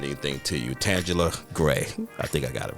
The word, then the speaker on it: Tanguler: I should have never said anything to you Tangela gray I think I got it right you're right